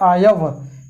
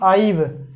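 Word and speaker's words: I've: तो देखिए यहाँ पे आई हैव का कंट्रैक्शन जो होता है ये होता है, इसको बोलते हैं आयव। यह नहीं कि आइव, आइव नहीं होता है इसका होता है आयव।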